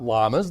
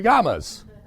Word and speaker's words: llamas: I know that two L's are not pronounced like an L. It's pronounced like a Yah. It's those beasties running around out there are not llamas. They're yamas.